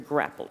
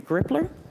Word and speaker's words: Grappler: we can use those Al along with the grappler what is it the grippler am I pronouncing it I'm sorry grippler for high Pursuit